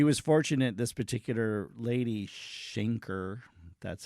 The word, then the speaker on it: Schenker: And like I said, she was fortunate, this particular lady, Schenker, that's how you say her name, she was